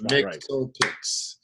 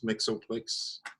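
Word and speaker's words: Mxyzptlk: And I can't spell the name, but I'm telling you that name is definitely off. It's Mixelplicks. So you got syllables, Mixelplicks. Yeah, but it's not spelled like how it is. It's not. There's no phonetically way to spell it.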